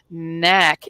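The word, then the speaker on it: NAAC: within organizations like and I'll spell it out Knack n a a c which stands for National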